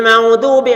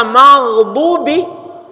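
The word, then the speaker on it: مغضوب: Dibacanya ghairil maudubi maudubi. Kalau dibaca maudubi menjadi wau bukan gin. Maudubi dnya menjadi dal. Apa artinya? maudubi maudubidal maka maknanya kemudian yang dimodifikasi. Padahal kalau dibaca magdubi yang dimarahi Allah, dikutuk oleh Allah.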